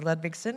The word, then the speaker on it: Ludwigsen: you very much Leanne thank you for the correct pronunciation of my name so good afternoon everyone my name is ludvigson and I'm the proud